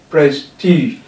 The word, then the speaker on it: prestige: We have, this is the root word, prestige, and it has two syllables, press and t, press and t, and that's why the stress is on the t here, as you can see, prestigious, prestigious.